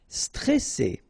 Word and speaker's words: stressé: Stressé. Okay, remember you get double S here, so you pronounce it really strong.